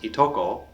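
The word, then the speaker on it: いとこ: Japanese differentiates the gender of most family members, but for cousins, it is always pronounced itoko, regardless of the gender.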